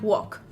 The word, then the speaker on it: walk: Lo mismo ocurre con letras que no se pronuncian. Es el caso del verbo caminar o andar, que se escribiría walk, se pronuncia walk. No pronunciamos la L.